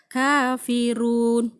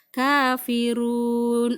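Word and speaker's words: كافرون: Jadi kalau membacanya saya baca 2 harokat. Kafirun, boleh 4 harokat, kafirun, agak panjang dikit, 6 harokat lebih panjang lagi, kafirun.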